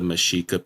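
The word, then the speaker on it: Mexica: I believe these were intended to be pronounced with a shh sound, as was the Mashika people who inhabited modernday Mexico.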